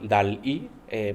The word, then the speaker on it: DALL-E: Uno se llama DALL-E, pronunciado en inglés, en referencia obviamente a Salvador Dalí.